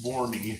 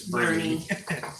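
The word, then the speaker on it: Boerne: or not if you're not from Texas it's boury if you are it's Bernie don't ask me how that works kind of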